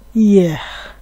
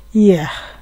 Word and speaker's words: hier: এখানে আছে গতকাল, ফরাসিতে বলে ইয়েহ, ইয়েহ। এখানে এর উচ্চারণটা কিন্তু একটু হালকা করে করতে হয়, ইয়েহ।